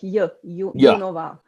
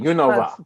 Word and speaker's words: Junova: Oh, actually, in Czech we say it like Junova. That's right, Junova.